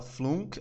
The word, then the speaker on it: flunk: Olha só, e aqui uma dica de pronúncia, a gente não fala flunk, a gente fala assim, ó, flunk, flunk, ok?